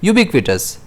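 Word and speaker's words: ubiquitous: इसे हम प्रोनाउंस करेंगे युबिक्विटस। जिसमें स्ट्रेस जो है वह बी पर रहेगा।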